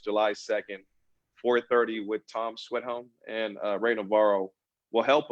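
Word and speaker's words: Schwedhelm: Sorry, I can't pronounce his last name. That's the Sweathelm. Sweathelm.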